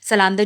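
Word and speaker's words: Zalando: सलांदो जिसको कहते हैं, यहाँ पर इसको ज़ालांडो प्रोनाउंस करते हैं, क्योंकि यहाँ पर ना ज़ेड को जो है वो एस प्रोनाउंस करते हैं ना।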